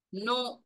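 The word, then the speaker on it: know: அதை ப்ரொனௌன்ஸ் பண்றோம் நோ k என் ஓட is also spelt us நோ என் ஓ is also spelt us நோ same ப்ரொனௌன்சியேஷன் டிஃபரண்ட் spelling டிஃபரன்ட் meaning that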